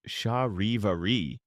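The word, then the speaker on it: charivari: The term chivari pronounced shahi vari of French origin is perhaps the best known scholarly term for this phenomenon but it had many local names across Europe.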